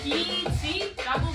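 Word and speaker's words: 빚: 에이, 민수한테 빛이 많죠. 상영하고 돈 없을 때 의지가 많이 됐어요. 오, 행 그건 비지라고 발음하는데.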